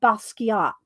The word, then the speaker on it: Basquiat: his name right Michelle Jean-Michel Basquiat that's how it is Jean-Michel Basquiat I never